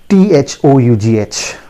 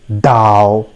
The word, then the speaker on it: though: pronunciation of this word many of us say tao right but that is not the correct pronunciation okay now i tell you the correct pronunciation of this word is though it is though i repeat it is